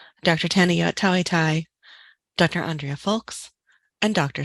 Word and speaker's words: Tanayott Thaweethai: and make sure that you have an accurate pronunciation for each of their names Dr Pinder Singh Dr Tanya tawitai Dr Andrea folks and Dr Simon partha sathi